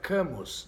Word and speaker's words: Camus: alberto caminho aberto caminho que se pronuncia albert camus né o estrangeiro é